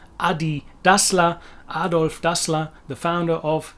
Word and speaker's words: adidas: to the german anyway it's not adidas which was maybe more like that in the south where i think the americans do tend to say adidas more which is quite a long way away from adi dasa adolf dassler the founder